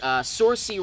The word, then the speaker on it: Saoirse: The only other one that I'll mention is Saoirse Ronan. I believe that's how you pronounce her name.